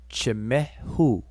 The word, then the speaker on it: Chimehu: So, you see the tethering rope? That's where we get that ch sound, like in church. Ch. This whip right here, the glyph, is where we get the mh, meh, meh. So we have ch, meh. And then the quail chick, we're pronouncing it oo. Chimehu.